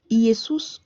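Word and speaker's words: Ἰησοῦς: Donc entre Yesus et puis Jésus, quel est le nom que l'ange a donné ? Yesous en grec.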